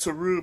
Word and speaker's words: tRúe: So it's Okay. pronounced Tru, but it's spelt like the word true.